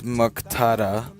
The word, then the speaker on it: Muqtada: His roommate is Muqtada.